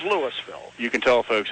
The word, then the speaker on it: Louisville: whole community over there mispronounce their own town. Louisville, Ohio. Now, Louisville. I've heard of Louisville. Yeah. I thought it was spelled Lewis because you're so used to Louisville. Well, you have like that all the time. Pennsylvania. Yeah, I know. But it is Louisville.